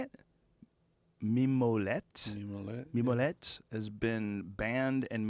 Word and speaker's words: Mimolette: Mimolette.